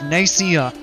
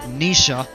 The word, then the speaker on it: Nicaea: This is Nicaea, or as I said, Nisha, and that's the wrong way to pronounce it.